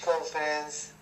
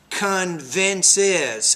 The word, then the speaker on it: convinces: pronunciation problems advertising which conference people you want to say advertising which convinces three syllables there on the other hand the